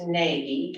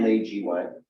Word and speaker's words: Nagy: NAGY. Nagy, it's pronounced Naj in Hungarian.